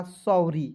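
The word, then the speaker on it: sorry: जब book reading करने जाते हैं ना तो दो कॉन्सोनेंट के बीच में ओ आएगा तो उसका उच्चारण औ के रूप में करेंगे तो हो जाएगा सॉरी।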